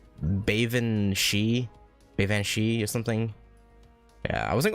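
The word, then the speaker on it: Baobhan Sith: Bavan Shi or something? Yeah, I wasn't going to, yeah, no. All I got were craft essences. Yeah, Bavan Shi, okay.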